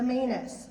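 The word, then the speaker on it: Maynes: man named maynex i have lost the meanest that rhymes with famous i'm just famous okay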